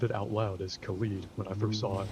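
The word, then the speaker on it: Caelid: of the game, the red place here, it's pronounced, here it is, written C-A-E-L-I-D. I said it out loud as Khalid when I first saw it, like DJ, Khalid, or Khaled, or whatever.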